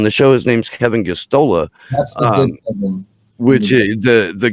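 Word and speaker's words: Gosztola: who was on the show his name's kevin gustola um which is the the good kevin um g-o-s-z-t-o-l-a is how you spell that uh is the co-founder of shadowproof and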